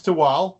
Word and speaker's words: Tehuatl: the pronunciation right and then I bought the pronunciation right the spelling wrong so okay problem um it's toal uh you can find us on our socials